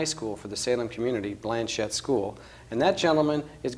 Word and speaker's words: Blanchet: norber Blanche School better known around here as Blanchett school now sometimes I may slip into that French pronunciation we'll talk about that in a few minutes but it's Blanchett school you're the principal and the president tell